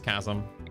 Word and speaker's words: chasm: It's chasm.